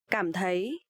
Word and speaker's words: cảm thấy: So here you will see the letter C. You will pronounce like letter K in English, and TH you will pronounce like th. So cảm thấy.